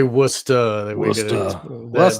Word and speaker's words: Worcester: This is uh Hogland sending something to Esther Brooks from Worester, I guess. Worester. Worcester. Worester. Not from the east coast. You could say worester.